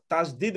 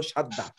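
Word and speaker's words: شدّة: আর Musaddad মানে আপনারা যেটাকে তাসদিদ বলছেন, আমরা বলছি ওই শব্দ, ওইটার মূল উচ্চারণ হলো সাদ্দা।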